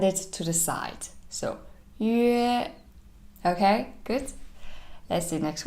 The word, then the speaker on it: yue: dots on the top, then you first pronounce this one, the yu sound, and then in the end is the a sound. So yue, your lips is change, how you change your lips is from the center as a circle and